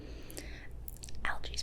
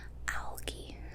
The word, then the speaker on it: algae: Algae's pretty popular. Or algae, some people say. Algae, I pronounce it algae. It's just my regional accent.